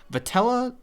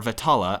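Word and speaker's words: Vetala: are going to accept patella or vittala I keep mispronouncing as it turns out I didn't notice there's an A in the middle but vittala was more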